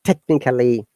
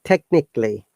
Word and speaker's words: technically: All right, so this word, look, most of the people will pronounce it like technically, physically, basically.